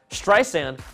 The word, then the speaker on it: Streisand: Streisand recently called Apple CEO Tim Cook to complain that Siri pronounces her last name with a Z in the middle of Streisand, and it has annoyed Babs since its launch in 2011.